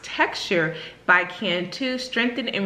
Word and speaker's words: TXTR: new product by Cantu this is txt or pronounced texture bike and to strengthen